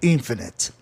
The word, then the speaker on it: infinite: A palavra é proparoxítona, né? Infinite. O grupo ITE de hipócrita, hypocrite, né? É um grupo sufixal, né? Em palavras acima de duas sílabas, entendeu?